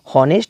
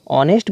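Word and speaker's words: honest: उच्चारण हो रहा है, इसको देखिए हॉनेस्ट नहीं पढ़ते हैं, क्या पढ़ते हैं, इसको ऑनेस्ट पढ़ते हैं।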